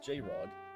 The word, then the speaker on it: JR0G: JR0G, pronounced J-Rod, was a side channel